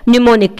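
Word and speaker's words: mnemonic: वो कहलाता है निमोनिक। ये एडजेक्टिव है, इसका मतलब होता है स्मृति सहायक। अच्छा, जैसे निमोनिक स्पेलिंग बहुत जगह पूछी जाती है, तो इसमें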